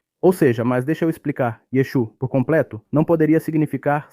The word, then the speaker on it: Yeshu: No entanto, a pronúncia Galileia é sem o aim. Então, o último a é omitido.